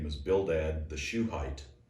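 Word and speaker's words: Shuhite: name was bildad the shoe height you know shoe height that's not very tall if you're just you know shoe height is spelled s-h-u-h-i-t-e not like a shoe but anyway sounded that's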